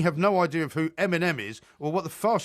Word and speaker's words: Eminem: Well, of course, Eminem.